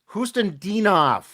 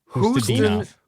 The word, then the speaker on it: Khusnutdinov: Khusnutdinov. Khusnutdinov.